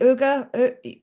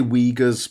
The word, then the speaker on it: Uyghur: protesters, the surveillance clampdown, I can never pronounce it correctly, Uyghur. I say Uyghurs, but I don't know if that's the correct pronunciation because they pronounce it different ways in the movie depending on who was talking.